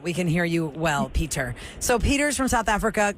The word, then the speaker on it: Pieter: I hope I'm saying your name right because it's spelled Pieter. Is it like Peter or is it Peter? Or It is like Peter, yes. It's like Peter.